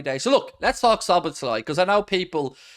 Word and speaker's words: Szoboszlai: And so we had to put it into Google Speech or Google Talk, and it was like Szoboszlai.